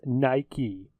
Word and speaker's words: Nike: ] she goes for all the Brits it's pronounced Nike that he is not silent you Newcastle Brown